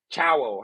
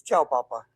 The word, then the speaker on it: Ciao Papa: uh good morning uh chowo how do you say that ciao it's ciao Papa ciao Papa all right